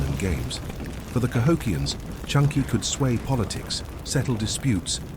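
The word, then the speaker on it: chunkey: Welcome to Chunky, yes Chunky. Pronounced just like the soup aisle at your grocery store, but with much higher stakes.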